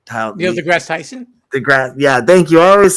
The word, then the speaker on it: Neil deGrasse Tyson: That's the thing that Tyson DeGrassi, I hope I said that right. Neil deGrasse Tyson?